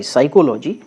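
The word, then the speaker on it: psychology: है यह याद रखिएगा जो साइकोलॉजी की स्पेलिंग होती है इसमें पीस साइलेंट होता है ठीक है तो पी एस ए सी हा ओ ल ओ जी ए साइकोलॉजी यहां पे ये सही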